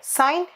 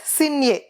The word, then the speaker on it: sine: let us see about what is s i n e sign a how to pronounce that and what is that s i n e sign a we are going to represent with s i n but we are not supposed to tell us signia it is sine a